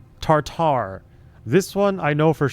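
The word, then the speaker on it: tartare: It is It is not pronounced tartar as in tartar sauce. It is tartar.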